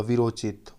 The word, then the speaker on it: वीरोचित: यहाँ पर देखिए वीर, यहाँ पास अ है, उचित ऊ आ गया तो उसका ओ हो जाएगा वीरोचित। ओ यहाँ पर उच्चारण में ओ आ रहा है।